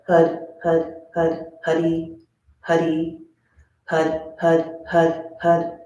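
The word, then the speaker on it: Haray: Hud, Hud, Hud, Hud, Huddy, Huddy. So remember when we say Hud, we roll our R's, our tongue hits our upper palate, and Huddy is 2 syllables.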